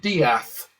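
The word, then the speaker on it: Death: It's spelled D E A T H and they pronounce it dath.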